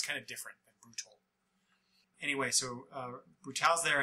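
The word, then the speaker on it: Brutaal: of them is named I I believe it's pronounced brutal but it's spelled b r u t a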